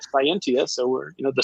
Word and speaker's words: Cyentia: You know, if you cyberize it with a CY instead of SC, you get Scientia.